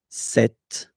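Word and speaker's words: cette: And that's the reason why here we've got set, okay? But then it's still the masculine form, se, set. For the feminine, it will be set, so only one, set.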